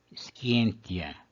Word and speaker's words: scientia: Scientia. A penúltima sílaba, que é o ti, é breve, portanto o acento vai para a antepenúltima.